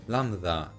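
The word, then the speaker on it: λάμδα: that's just pure coincidence lambda nowadays pronounced landa it's so freaking similar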